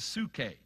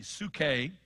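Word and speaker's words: ψυχή: two words translated life one is Sookie it's spelled in the Greek PS you see H e su ke and for instance Jesus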